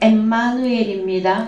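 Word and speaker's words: Ἐμμανουήλ: 예, 원어 성경에 가서 예, 원래 발음은 엠마누엘입니다. 헬라어 발음은 엠마누엘인데 어떤 뜻을 가지고 있느냐?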